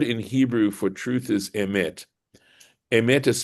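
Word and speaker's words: אמת: The word in Hebrew for truth is emet. Emet is spelled Aleph, Mem, Taf, the first letter of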